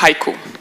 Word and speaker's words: HYCU: agevice CEO please foreign it's pronounced haiku no problem so hello